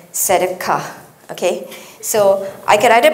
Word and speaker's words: tzedakah: But anyway, I don't speak Hebrew. I checked on the internet and apparently it is mishpat and tzedakah.